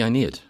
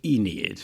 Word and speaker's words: Aeneid: then what is the inid okay well first of all let's pronounce it right in English it's the Enid okay a you're a